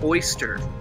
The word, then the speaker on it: Ēostre: indo-european language speaking peoples we can phonetically pronounce the name as oyster which is exactly why